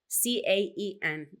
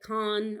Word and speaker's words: Caen: And I think most Americans or most English speakers pronounce it Caen or Can or Cane, but the French pronunciation is Caen.